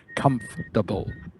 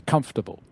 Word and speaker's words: comfortable: but it's actually pronounced comfortable so the or sound in the middle you just miss out that's what a native speaker would do you just say comfortable comfortable does that make